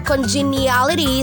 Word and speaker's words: congeniality: Minsan 6 na syllables, minsan din naman 5. Okay, so meron din tayong 5 syllables para sa word na ito. Dito naman, itong 3 to, genia, nagiging 2 na lang, genia. Genia, so you say congeniality.